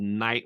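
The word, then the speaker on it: Knight: there's a website called night labs and it's spelled uh you know kni ght you know it's like a medieval night called night labs and they create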